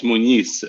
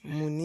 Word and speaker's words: Muniz: It's Muniz. M-U-N. Yeah. Muniz.